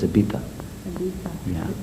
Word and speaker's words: Ibiza: Well, a lot of English or Americans, Canadians or whatever, they say Ibiza, but the Spanish pronounce Z as TH, so it's Ibiza.